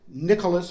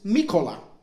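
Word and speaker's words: Микола: By the way, I just found out yesterday that the Ukrainians don't pronounce it Nicholas or Nikola. It's Mikola.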